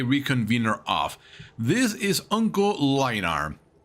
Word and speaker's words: Mlynar: This is Uncle Mlynar. It's spelled M-L-Y-N-A-R.